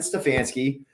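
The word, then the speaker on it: Stefanski: you say his name Kevin stefansky um and that's just how what it comes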